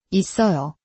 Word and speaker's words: 있어요: 있어요, 있어요 로 소리나요.